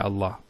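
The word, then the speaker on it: الله: So by Allah, I swear by Allah. Once again, for example, if Allah was the first word in the sentence, we would say Allah with the Hamza being pronounced.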